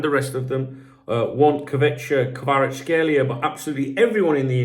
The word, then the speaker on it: Kvaratskhelia: So, just like, do you remember, how do you pronounce his name? Kvaratskhelia.